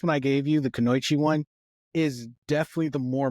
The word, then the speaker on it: kunoichi: Kanoichi. Am I? How do you say it? You can do Kanoichi. it. Kunoichi.